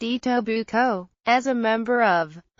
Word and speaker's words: Etobicoke: represented Etobicoke, pronounced EE-tow-buh-coe, as a member of